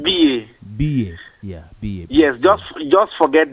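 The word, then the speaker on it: Biye: B.A. Yeah, B.A. Yes, just forget the first E. And the first E is silent. It's B. Yeah. The pronunciation is B-I-Y-E, but the spelling is B-I-E-Y-E. It's B.A.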